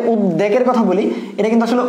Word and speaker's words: উদ্বেগ: এক্ষেত্রে অনেকেই বুঝতে পারো না যে বফলার উচ্চারণ বলতে কি। দেখো আমরা যে উদ্বেগের কথা বলি, এটা কিন্তু আসলে উদ্বেগ, হ্যাঁ, আমাদের